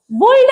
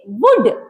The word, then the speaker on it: would: Palm W ओ यू एल डी वुल्ड नहीं वुड क्या पढ़ेंगे?